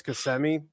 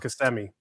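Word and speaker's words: Kissimmee: My grandparents, they live uh outside of Orlando, like towards Casemi. Okay. And um because they couldn't pick Casemi. It I call it CMI. It's called It's pronounced CMI.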